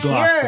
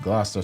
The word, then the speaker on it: Gloucester: Now we know how to pronounce it when we go back there next Gloucester. year. Right, Gloucester.